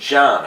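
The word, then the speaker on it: Can: He says his C-A-N is pronounced John, I guess. He said introduce yourself, and I swear to God he said John. So C-A-N is John in Turk, whatever.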